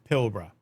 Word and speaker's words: Pilbara: It's called Pilra. That's how you say it.